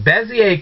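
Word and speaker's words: Bézier: curves yes the finest found out how to pronounce the same thing Bezier curves it's French obviously and you're going to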